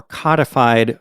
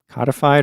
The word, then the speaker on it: codified: How do you pronounce that word? Codified or codified? I've always gone with codified, I think. I looked it up. Apparently both are acceptable pronunciations.